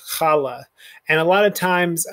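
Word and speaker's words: challah: guttural but it's it's just a slight guttural like johann sebastian bach hanukkah um the braided bread that we eat at shabbat called khala and a lot of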